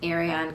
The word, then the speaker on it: Ariane: naomi iron ariane sorry spelled with an eye it's pronounced ariane case um so last